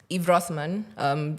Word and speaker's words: Rothman: So Eve Rothman, it's spelled Yves. Rothman like the... Like the cigarette.